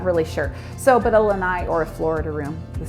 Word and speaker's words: lanai: And then the last thing I want to mention are actually lanais. Lanais are the little porches in the back of